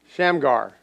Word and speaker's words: Shamgar: of moab sheamar uh shane shamrock i'm gonna pronounce this game again shamgar his thing that he was good at he